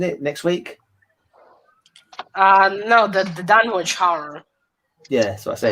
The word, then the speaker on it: Dunwich: You don't pronounce the W then?